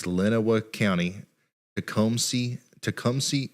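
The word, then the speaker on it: Lenawee: point you will say my county and city name wrong it's Lenova County to come see Tecumseh Michigan here's your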